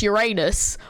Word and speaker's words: Uranus: Okay, first of all, it's Uranus.